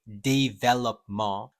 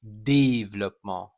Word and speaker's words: développement: A lot of people say développement, but actually the pronunciation is développement. Repeat after me. Développement. Développement. It's not development, it's développement. So that E right there, you got to watch out for that E. It's not how you say it in the English word of develop.